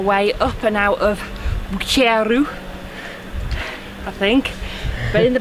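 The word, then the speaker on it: Buggerru: So we now have made our way to Bucheru, which is how it's actually pronounced, and it's an old mining village, and we're going to head up up there somewhere.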